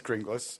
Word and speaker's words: Grynglas: How do I pronounce your last name? It is Grynglas.